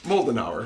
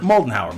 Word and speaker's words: Moldenhauer: Moldenhauer. Moldenhauer, much like the malting Moldenhauer. Moldenhauer, like the malting hour.